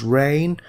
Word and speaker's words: reign: in the UK during the reign this is pronounced reign of Edward the safe reign the time of